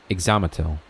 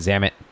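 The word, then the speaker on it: Ixamitl: So you do pronounce the I and the L there. Exomatal. Exomatal. I was just calling it Zamit.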